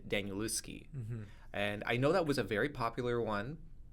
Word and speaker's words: Danielewski: So it was either Daniel or it was Stephen King. Well, I'm going to say because you got his name wrong, it's probably Stephen King. I got his name wrong? Danielewski.